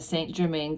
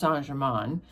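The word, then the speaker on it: Saint-Germain: It says that Telson's is established in the St. Germaine quarter of Paris. This is actually pronounced Sanjgeran.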